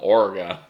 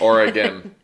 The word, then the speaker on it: Oregon: then new channels came one guy drove from Oregon which is crazy he did Oregon not Oregon it didn't go anywhere that's what